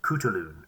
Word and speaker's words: Khutulun: week's episode is about a warrior princess named kutulun spelled k-h-u-t-u-l-u-n but you probably know that because